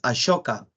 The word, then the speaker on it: Ashoka: y el otro es ashoka se escribe con s no pero se pronuncia como a shoka logra la máxima expansión